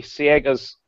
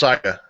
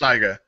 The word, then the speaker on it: Saiga: it converted to take Siega mags? In my opinion, Hold on, no. that's pronounced Saiga. Whatever. I'm just letting you know it's Siega. pronounced Saiga. Just so you know.